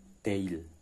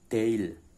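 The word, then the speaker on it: değil: apa ada tanduknya Bu kitab daily bacanya nggak kebaca g-nya nggak kebaca sub kitab daily Oh kitab daily to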